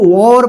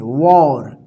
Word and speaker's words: war: आप हमेशा ध्यान रखिएगा, इसको वॉर पढ़ते हैं, वॉर, इस तरह से, ठीक है ना। इंग्लिश ऐसा एक सब्जेक्ट है, जैसा लिखा रहता है वैसा उसका उच्चारण नहीं होता है, लेकिन आप इसको हमेशा ध्यान रखिएगा, वॉर, इसको वार मत पढ़िएगा, वार पढ़ेंगे गलत हो जाएगा, ठीक है ना।